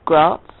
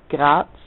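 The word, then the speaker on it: Graz: it's yeah I come from a town called grat is that's how English people pronounce it it's it's really grats but that people find that kind of difficult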